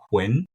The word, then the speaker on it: Huynh: One, and also two because like the word win, like that sound, the phonetic of the word win is, you know, my last name and I I'm a winner, you know, like I love it.